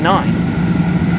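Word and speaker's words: nein: see them aft because when you say nine in german that means no i believe in german nine is spelt i think n-e-i-n and obviously in english as the word version of the number nine it's n-i-n-e and it's using the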